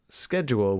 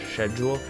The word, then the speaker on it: schedule: one this is scheduled which i think is schedule schedule schedule now I don't have a problem with that pronunciation to me that sounds correct - I mean that's how it's spelled but to me it seems so much easier to say schedule that shed jewel the way it sounds like that it